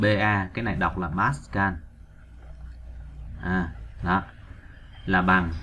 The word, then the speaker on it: Pascal: kí hiệu là chữ b là cái này đọc là Pascal là bằng 1 Newton trên mét vuông rồi